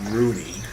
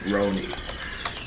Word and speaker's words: Roni: Not spelled like the football player, right? Not Rooney. Roni. R-O-N-I.